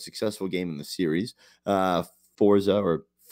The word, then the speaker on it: Forza: Forza, as Brody says, because that's the proper way to say it, Horizon 4 brought in